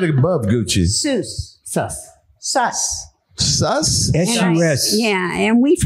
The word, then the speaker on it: sus: Oh, he's sus. Sus. Is that how you pronounce it?